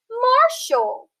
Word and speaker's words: martial: Then we have T-I-A-L, which says shoal. We're going to split it in between that bossy R vowel sound R and that suffix shoal. So we have the syllable mar, the syllable shoal. We have the word marshal.